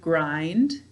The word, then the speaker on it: grind: The sounds are g, r, I, n, d. Right. But this I is I-E. What's letting it say I in this word? Let's see, grind is just one syllable.